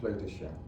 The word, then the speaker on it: Kleutertje: Klein Klein Kleutersje, which How do you spell it? it's K-L-E-I-N, new word, again, K-L-E-I-n, and then Kleutertje is K-L-E-U-T-E-R-T-J-E, Klein Klein Kleutertje.